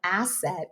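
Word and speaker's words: ACET: of Eye Technicians and we call it asset AC but pronounce it like a technician is an asset for every practice.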